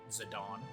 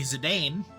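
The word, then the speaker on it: Zidane: I guess I guess I can sort of see how a person could get Zadon. It's not right. It's definitely Zedane, but I I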